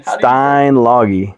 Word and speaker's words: Steinlage: Steinlage.